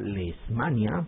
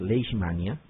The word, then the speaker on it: Leishmania: ya algunos quieren pronunciar lesmania o leismania y no es así. La pronunciación correcta es leismania, ¿ya? Porque hay una s y una h, ¿ya?